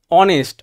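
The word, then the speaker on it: honest: advance রুলে দেখা যাক অনেস্ট অনেস্ট শব্দটা কি দিয়ে শুরু হচ্ছে অ দিয়ে দিয়ে অ একটা স্রবর্ণের সাউন্ড এর আগে বসবে হচ্ছে এন ইউনিভার্সিটি ইউনিভার্সিটি শব্দ দেখ ইউ এর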